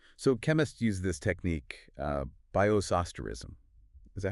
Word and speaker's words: bioisosterism: So chemists use this technique, Bioisosterism. Is that how you say it? Bioisosterism, yeah, spot on.